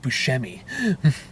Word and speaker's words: Buscemi: It's Steve Buscemi.